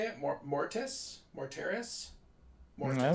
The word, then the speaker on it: Mortis: library there's some new books coming out a more terrace is that how you say it more mortise more terrorists more i don't know are you